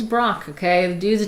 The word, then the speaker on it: Braque: They always say it like something like that. I'm saying his name is Brock, okay?